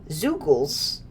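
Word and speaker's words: Zeugles: Zoogles. That is how they're pronounced.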